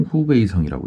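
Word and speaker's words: 湖北省: 우한이 여기에 있고 중국 정확하게 중국 발음으로는 허난성 후베이성이라고 되어 있죠.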